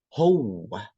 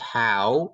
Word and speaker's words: هو: I wrote W twice because we pronounced it twice. So get used to that. Ho. It's not how, it's ho. Ho.